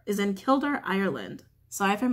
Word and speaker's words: Kildare: just came through Bridget's temple is in the killed are is in Kildare Ireland so I find mispronounce that guys she's celebrated worldwide on February